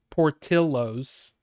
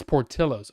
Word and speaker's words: Portillo's: Portillo's. Portillo's. And then in Spanish, illo is pronounced illo. Right. So tortilla. So, but it's Portillo's. Okay, so Portillo's then.